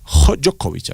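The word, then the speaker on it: Djokovic: Jokovic, así se pronuncia el chinchilisco.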